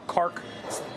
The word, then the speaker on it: Kharg: 90% of their oil is exported off an island called Karg or Kark, various pronunciations, right in the middle of the Persian Gulf.